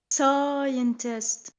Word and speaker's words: scientist: understand that word because we have to hear the two syllables stist scientist s not not ah but scientist you got to push out the E Yeah scientist scientist can